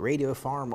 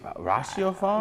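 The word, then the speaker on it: ratiopharm: It Radio Farm Ulm? Radio Farm? I think it's Ratio Farm. See, there you got it.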